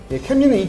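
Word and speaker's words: Camry: 근데 일본에서 왕관의 그 발음이 아마 캐무리. 캐무리. 캐무리가 일본 그 왕들이 쓰는 그거를 캐무리라고 하는데 그거를 그대로 영어 발음으로 옮긴.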